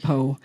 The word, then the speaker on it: Poe: She educates the reader about Emerson, who radiates light, and then she moves to Poe, whose name rhymes with woe.